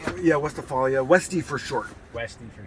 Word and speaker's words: Westphalia: So we're in the 1972 Volkswagen, and how do you pronounce it? Westphalia? Yeah, Westphalia.